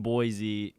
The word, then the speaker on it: Boise: to why I'm here I'm actually I'm in Boise because you're supposed to you're supposed to pronounce it just so people don't get mad